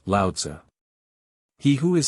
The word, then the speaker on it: Lao-Tzu: We turn now to the teaching of the great rival of Confucius, Lao-Tsu, pronounced Lao-Tzu.